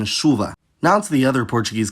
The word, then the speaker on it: chuva: Meanwhile, ch is pronounced [ʃ], like in chuva.